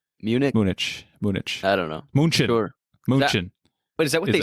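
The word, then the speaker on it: München: uh Munich Munich Munich Munich I don't know moonshin but is that what they say there you're confusing me so uh Munich or in Germany it's pronounced Munchen oh yeah so I tried I tried to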